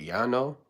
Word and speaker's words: Yano: I think that's uh Oh, I don't even know how to say your name, but Yano is how you say it.